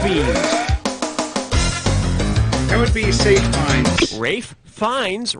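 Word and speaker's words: Ralph Fiennes: that would be safe rafe finds rhymes with safe pines yeah he was great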